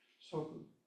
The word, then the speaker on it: soku: Soku, S-O-K-U, the U is like an out breath.